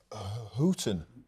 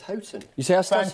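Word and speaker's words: Houghton: say actually Peter melson just picked me up on my pronunciation of hooton hton he sayon well this is happen spring exactly Chris I think it's hton you thank you thank you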